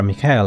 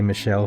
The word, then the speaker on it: Michel: you just you are Mikhail are you not well is it Michelle has asked have I been pronouncing around the right I'm going to call it say Michelle from now on that